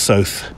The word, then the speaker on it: Soth: now Alex so uh magnum's Alex so rhymes with both as he writes on